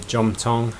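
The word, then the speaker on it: Jomthong: can um follow the River from here to J Tong um you might you might find it funny that I pronounce the uh SE h of J Tong with a J but that's how it is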